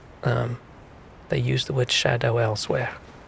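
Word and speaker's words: Scadutree: said by the way this is pronounced Shadow otherwise I would have gone the entire play through seriously saying saying scad tree them trying to fool me with their spelling yeah it's um it's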